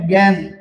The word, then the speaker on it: জ্ঞান: যেমন দেখেন জ্ঞান যেটা আমাদের খুবই কম। যেমন দেখেন এইযে জ্ঞানের উচ্চারণ শব্দের প্রথমে জয় রয়েছে তার কারণে সেটা কি হয়ে গেছে? গ জফলা চন্দ্রবিন্দ্র হয়েছে এবং আকার আকার দন্তান্য দন্তন্য জ্ঞান।